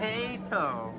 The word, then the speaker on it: HaTo: Ha, but we pronounce this H-A together by itself as Ha. Why? Because it's the first two letters. Harrison. I know, but HaTo.